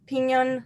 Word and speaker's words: piñon: earth was populated by humans who ate only piñon nuts am I saying it right piñon nuts correct there's a bean yon tree and